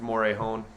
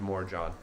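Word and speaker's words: Morejón: Mets got to Adrian more John I know it's pronounced Moray hone but we want to call go with more John so complete I think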